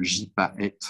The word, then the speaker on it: gypaète: Ça s'écrit le gypaète barbu, ça se dit gypaète.